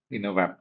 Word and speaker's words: Innovapptive: Let me pronounce it right. Inovap. Inovap.